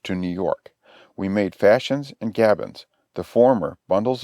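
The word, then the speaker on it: fascines: word is pronounced Gavins the Fashions pronounced Fashions are as I said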